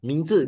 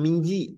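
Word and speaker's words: 名字: 这 Nah, Mingzi, jangan Mingji, jangan Mingji ya. Mingzi.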